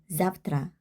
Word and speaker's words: завтра: 똑같은 원리로 zavtra, zavtra. 왜 때를 보면 왜는 유성음, 때는 무성음. 뒤가 무성음이기 때문에 때가 무성음이어서 그 앞에 있는 왜를 무성음으로 바꿔줘야 합니다. 왜의 짝꿍이 F기 때문에 zavtra, zavtra. 무성음으로 발음해 줍니다.